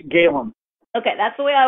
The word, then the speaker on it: Galen: about your new book is it Galen or Gallen it's Galen okay that's the way I was pronouncing it so we're going to talk about